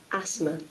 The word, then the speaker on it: asthma: TH silent, ஆஸ்மான் Asthma. Asthma. Asthma. Asthma. பாருங்க, Asthma. Asthma. Asthma. ரெண்டு பேருமே TH ரிமூவ் பண்ணிட்டாங்க, பிரிட்டிஷ்காரங்களும் சரி அமெரிக்கன்ஸும் சரி.